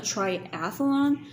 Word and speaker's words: triathlon: call a triathlon a triathlon like a triathlon I ran a triathlon and she says actually that's pronounced wrong because there's not an A in tri-ath blonde Triathlon it's actually Triathlon and I'm like what